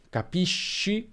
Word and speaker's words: capisci: Se abbiamo o, si pronuncerà sk, quindi capisco, capiscono, ma se abbiamo e o i, abbiamo sh, capisci, capisce. E questo segue le normali regole di pronuncia dell'italiano. Finisco come sconto, per esempio, finisci come sci, finisce come pesce.